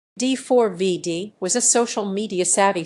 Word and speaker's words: D4vd: D4VD was a social media savvy singer making breakthroughs. D4VD, pronounced David, gained popularity among Gen Z for his blend of indie rock, R&B, and lo-fi pop.